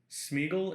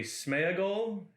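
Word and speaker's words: Sméagol: he wrote things um smeagle and deigle are actually smeagol and diego eisenguard is easten guard there's a lot of names that are pronounced wrong and it's usually for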